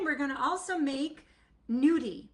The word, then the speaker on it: gnudi: And then we're going to also make nudie, which is spelled g n u di, and it is like a nyaki, but not made with ricott potato.